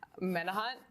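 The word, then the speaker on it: Menauhant: Menahut. I always say it incorrectly. That's how I've been informed it's pronounced.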